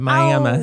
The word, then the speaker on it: Miami: They call it It's spelled like Miami, but we call it Miami, honey.